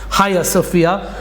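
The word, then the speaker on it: Hagia Sophia: pronounced the higher Sophia it's spelled with a G but I think it's pronounced Haya Sophia um which was in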